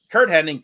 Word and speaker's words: Hennig: I pronounce his name wrong like my whole damn life. I in my brain always says Henning. I know it's Hennig. Same here. But like I always add the extra N. I always put the wrong emphasis, the wrong syllable in that one.